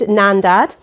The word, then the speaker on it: Nandad: So I have started Nandad.